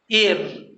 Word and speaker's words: heir: आइए देखते हैं, HEIR, एयर, एयर मतलब उत्तराधिकारी होता है।